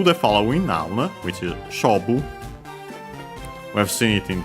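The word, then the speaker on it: 勝負: Accent on the first mora, it's a Chinese compound, and so yeah, it's the second most common accent for those.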